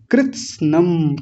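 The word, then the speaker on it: कृत्स्नम्: नष्टे में धर्मे नष्टे कुलम कृत्सनम कृत्सनम थोड़ा देख लीजिए मैं अलग लिख देता हूं। कृत न और म को हलंत कर दिया मैंने यहां। देखिए वहां पूरा म लिखा हुआ है। मैंने आधा कर दिया। आधा कर दिया तो इसमें जो अ होता है देखिए कोई भी अक्षर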